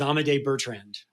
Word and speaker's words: Amadei Bertrand: and help me make sure I get the pronunciation right your protagonist um is amade Bertrand is that right that's right and it said